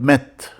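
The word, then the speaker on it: ⲙⲉⲧ: to a noun, I add a prefix called met. May, like M, A, which looks like E in English, but pronounced like A in French.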